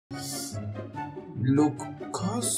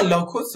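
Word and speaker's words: Lacoste: لوکاست چجوری تلفظ میشه؟ لوکاست لوکیس لاکوست. آها لاکوست بخشم اوی شد. لا لاکوسته بهتره بگیم اینجوری.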